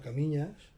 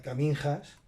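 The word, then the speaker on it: Caminha: Entonces llegó el último día, que llegamos a Camiñas. Yo en plan de broma decía Caminjas, porque no lo pronunciaba en portugués, lo castellanizaba, ¿vale?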